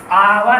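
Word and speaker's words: hour: आवर बेटा, इसे हावर नहीं बोलते, इसे क्या बोलते हैं?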